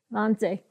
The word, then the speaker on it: Wannsee: suburb of, all right, my English pronounces it Wannsee, but you said it much better. Wannsee.